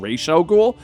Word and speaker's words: Ra's al Ghul: fashion now for me that's raza ghoul and you would say but benny weren't you young and you watched the original cartoon in which they said ratio ghoul you're correct but i think i may have just been too young to process that properly when i finally heard raza ghoul on the movie i think that's the one that stuck with me but that's what created